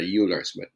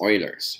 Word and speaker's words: Euler: as Euler's number and some people pronounce it a Euler's but I think it's Oilers okay now since it's